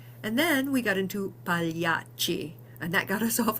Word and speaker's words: pagliacci: So pagliacci is another good one, pagliacci. And you'll notice with the double C, there's a little more cha sound.